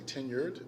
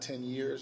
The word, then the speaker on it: tenured: say that word correctly tenured that's t-e-n-u-r-e with a d it's not 10 years just to be clear